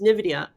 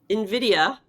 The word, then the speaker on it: Nvidia: next story which is Nvidia. Nvidia Nvidia Nvidia. I always just say it like it's got an N in front of it because it's too difficult to say Nvidia. I just say Nvidia.